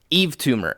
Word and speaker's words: Yves Tumor: Eve Tumor. If you guys have not heard Eve Tumor, I'm about to put you on. Spell it. They are probably because it's spelled. Y. Yep. Yeah, it's spelled super fucking weird. YVES Tumor. TUMOR.